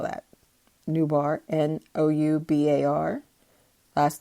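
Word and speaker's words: Noubar: ventures it's ceo nubar afiyan um i'm gonna spell that newbar n-o-u-b-a-r last name af-yen a-f-e-y-a-n tried to get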